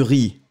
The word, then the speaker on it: riz: Regardez, d'abord, on a du riz. C'est du riz, D'accord? On ne prononce pas le Z final.